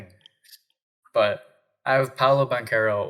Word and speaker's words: Banchero: Ranchero, and that's how you say that, okay? And it's spelled the same way, just with an R.